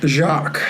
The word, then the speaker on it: Jacques: And his name is, by the way, you said it wrong. His name is Jock Webster, Jacques.